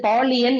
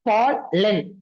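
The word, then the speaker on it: pollen: எது X dream extremely இது பாலியன் இல்ல பால் லென் ஏ வோட தான வரணும்னு சொன்னோம் இயோட உச்சரிப்பு வரக்கூடாதுல பால் லென் இப்போ ரிப்பீட்டடா இங்கயும்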